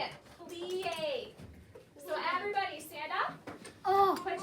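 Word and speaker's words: plié: Okay, all right, so the first one, how to say it, plie.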